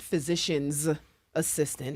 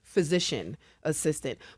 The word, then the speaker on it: physician assistant: And we joked a little bit um off air about how we pronounce PAs, right? It's not physicians assistant. It's not possessive is physician assistant.